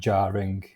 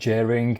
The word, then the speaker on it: jarring: Takže jing byl nesmysl. Vyslovuje se to jako jarring. Kouknem na Cambridge dictionary. Jarring. Jaring. Jaring. Jaring. Jo, když budete říkat jering, tak je to prostě nesmysl. Jaring, anglickej, jarring americkej americkej.